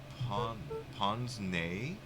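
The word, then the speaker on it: pince-nez: that out symbol pon pon nay is how it's pronounced like how the Monopoly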